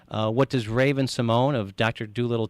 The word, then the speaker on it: Raven-Symoné: Mark, if you call me Ramon one more time, you'll be eating your next cheeseburger through a straw.